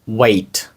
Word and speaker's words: weight: Отже, вага англійською мовою звучить як wait. Wait. Там є великий набір літер всередині, але багато з них не вимовляються. Отже, wait. Звучить схоже як слово чекати, також wait, але написання зовсім різне.